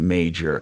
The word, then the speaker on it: Mager: You know, I've never heard of the name Mager, M-A-G-E-R, spelled like he does. It's German. It's Mager.